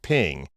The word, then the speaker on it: PNG: just creating images for the web in general ping is just fine and it's an open source